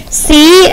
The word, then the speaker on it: clothes: it with me ready c-l-o-t-h-e-s close a lot of times people spell that without the th because when you say clothes you don't necessarily necessarily hear that th right we don't hear